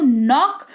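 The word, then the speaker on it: knock: नो यानी कि जानना तीनों शब्दों में के के बाद एन है और इसी की वजह से के जो है वो साइलेंट है नेक्स्ट अब बात करेंगे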